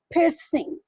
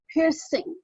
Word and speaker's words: piercing: We used to pronounce R in it, whereas the native speaker, they don't pronounce R, because after R, if you look at the spelling, it is C. And she used to say piercing, piercing.